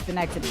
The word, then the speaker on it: Synecdoche: that I can't pronounce that word. It's some fucking Latin. It's like Synecdoche or something. Synecdoche? Yeah. Synecdoche is what it is.